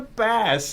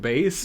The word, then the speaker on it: bass: Secondly, it's pronounced bass. It's pronounced bass. It's like, I know English is a hard language, but please. I mean, bass is a word, but we're not dealing in fish right it's now.